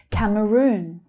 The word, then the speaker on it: Cameroon: Cameroon. Cameroon. So the stress there is on the final syllable. It's the long vowel sound. Oo. Cameroon.